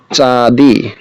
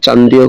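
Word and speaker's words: चाँदी: ফির তারপর বা পুনরায়, ফির মানে পুনরায় বা আবার, আবার দেবতা নে, দেবতা চাঁদি, চাঁদি বলতে চাঁদিও উচ্চারণটা চাঁদিও করা যায় চান্দিও করা যায়, হ্যাঁ যেহেতু চন্দ্রবিন্দু আছে নয়ের উচ্চারণ করা যায়।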